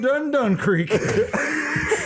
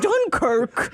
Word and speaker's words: Dunkirk: I haven't been felt this much upriver since we've been up Dun Creek. It's pronounced Dunkirk.